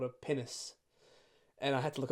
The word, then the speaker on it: pinnace: the script called a pinnace. And I had to look up the pronunciation for What's so funny about that? You're not going to believe me. It sounds like the word penis.